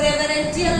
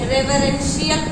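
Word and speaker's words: reverential: तो रेवरेंटियल नहीं, रेवरेंशियल पढ़ा जाएगा।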